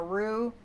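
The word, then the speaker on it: roux: in to melt and a AO is spelled r ux it's a French word and it's a thickening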